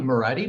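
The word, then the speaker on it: Moretti: in my name is marietti meredith is spelled m-o-r-e-t-t-i and i'm the director of policy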